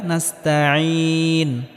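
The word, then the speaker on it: نَسْتَعِينُ: এখানেও আইনটিকে গলার মধ্যে হালকা চাপ দিয়ে উচ্চারণ করতে হবে। ইয়াকা নাবুদু ওয়া ইয়াকা নাস্তাইন।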